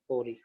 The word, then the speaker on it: ORI: मान चलो यहाँ पे कुछ सीक्वेंसेस था, इसको हम प्रोनाउंस करेंगे ओरी, ORI, ठीक है।